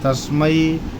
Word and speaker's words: तस्मै: माई की पाई है लेकिन संस्कृत के श्लोकों में ऐ का उच्चारण ऐ से होता है ऐ नहीं होता है और औ का उच्चारण औ से होता है औ नहीं होता तो इसीलिए इसको बोलेंगे तस्मै श्री गुरुवे नमः आइए आशा है कि